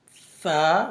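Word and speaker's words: ف: Fa, when the bottom lips touch the up teeth and the 2 big teeth beginning, then it's pronounced fa.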